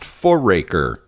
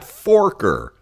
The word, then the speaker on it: Foraker: So again, the name is pronounced Foraker, not Forker. Foraker, not Forker.